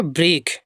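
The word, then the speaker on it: broke: They ब्रोक, बी आर ओ, देखिए बी आर है बा मेरा, और ओ से बा में ओ की, के से का, ई साइलेंट है, ब्रोक।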